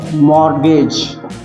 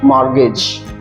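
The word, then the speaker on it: mortgage: अगला शब्द है मॉर्गेज यहां पर टी को ध्यान देने की जरूरत है है जो कि साइलेंट है मॉर्गेज word is mutual fund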